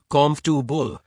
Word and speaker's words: comfortable: understand you better right for example the word comfortable might look tricky but when you hear it pronounced as comfortu it becomes easier to say you can use